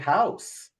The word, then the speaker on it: house: So why is there a silent E at the end of the word house? Well, the word house ends in the sound S, and it's spelled with an S.